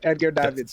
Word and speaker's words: Edgar Davids: And let me know if I'm pronouncing his name right. Is it Edgar Davids or Edgar Davids? Yeah, Edgar Davids, yeah.